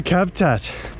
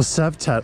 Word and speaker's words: Cavtat: Welcome to Cavtat. Or Savtat, I think they pronounce it.